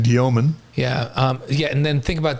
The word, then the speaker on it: Demin: And last week he announced the right way to say his last name instead of Demin. Igor said it's Diomin. That's how you say it in Russian, right?